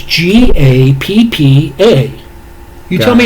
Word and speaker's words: Gappa: Gapapa? It's Gappa.